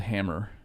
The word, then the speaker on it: Hammr: To bring this home, the business, it's called Hammr. HAMMR. But no E.